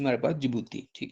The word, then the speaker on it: Djibouti: और फोर्थ है हमारे पास जिबूती, जिबूती के स्पेलिंग आप लिख लें, DJIBOUTI, जिबूती।